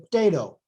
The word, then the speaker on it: potato: And then if this very reduced schwa occurs before or after a voiceless stop, it can even become voiceless and virtually disappear, as in potato, potato. But since the stress is on the second syllable, potato, we really put potato, and the schwa, which is technically there, becomes voiceless, and the sound just basically disappears.